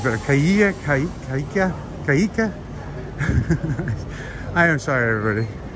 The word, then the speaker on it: Chiaia: Okay, as the guy said, Via Chiaia. Chiaia.